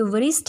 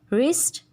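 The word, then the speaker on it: wrist: ये वरिस्ट नहीं होता, वराइट नहीं होता, रिस्ट, राइट।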